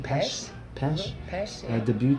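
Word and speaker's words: Pesce: How do you pronounce his last name? Pesh.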